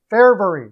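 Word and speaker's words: Fehérváry: And I didn't talk about Ferhavy. Ferhavy, oh my gosh. Or is that how you say it? Fairbury, that's it.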